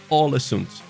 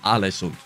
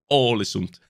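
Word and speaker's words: Ålesund: his comment here where he said alesund is pronounced with the norwegian ah later instead of uh so it's all assumed instead of alison so it's all a sun like holland that's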